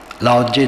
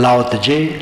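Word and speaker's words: 老子: लाओ त्से 2500 वर्ष पूर्व हुए हैं। ताओ ते चिंग तो पुस्तक है, लाओ त्से उनका नाम है। लाओ त्जे, लाओ त्जी, लाओ त्जू कई उच्चारण हैं, लेकिन बात तो वही है।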